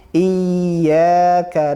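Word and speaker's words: إِيَّاكَ: Jadi bacanya cukup ditekan, tidak ditahan. Cukup ditekan, tidak ditahan. Iyyaka na'budu wa iyyaka nasta'in. Ya, bukan iya.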